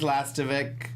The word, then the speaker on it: Lastovic: All right, my quote of the week this week goes to James Lastovic.